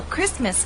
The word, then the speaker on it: Christmas: days away you know Christmas is one of those words in English that is written with a t but we don't pronounce it now many viewers have